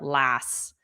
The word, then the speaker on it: last: This T on last was totally silent. So, it just sounded like last last Tuesday.